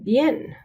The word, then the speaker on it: bien: We also make the same distinction when we say bien. So bien is one syllable. The I and the E kind of stick together, okay? It's not bien, it's bien.